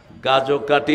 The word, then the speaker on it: গাজোকাটি: আপনাদের উচ্চারণই ঠিক কারণ আপনারা এখানের বাসিন্দা গাজোকাটি বাজার গাজোকাটি অর্থ কি